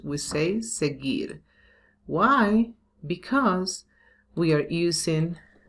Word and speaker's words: seguir: This U here, it's not pronounced. We say seguir.